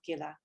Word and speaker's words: Gila: power and I'm so so grateful to experience Gila and Nehemia did I pronounce that right she did yes and to you know welcome Gila because this is something where you know she